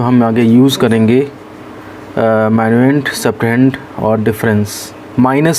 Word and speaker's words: subtrahend: अच्छा, जिस क्वांटिटी को सब्ट्रैक्ट किया जाता है उसका नाम होता है सब्ट्रहेंड, या सब्ट्रहेंड, H साइलेंट कर सकते हैं आप, SUBTRAHEND।